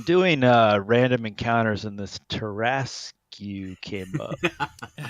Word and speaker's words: Tarrasque: I'm doing random encounters, and this Tarrasque came up. sounds fun. Tear ass Q. Yes, that's the best way to pronounce it.